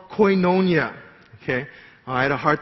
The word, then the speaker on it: koinonia: And the word for participation here in the Greek is called koinonia. Okay? I had a hard time pronouncing that in Dogok, so I had to look it up.